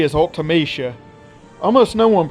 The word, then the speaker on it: Ultimecia: For many years I thought this character's name was Ultimecia, and that's exactly what the majority of people call her to this very day. However, she appeared in Dissidia, and the characters in that game called her Ultimecia, making that pronunciation the official way to say her name.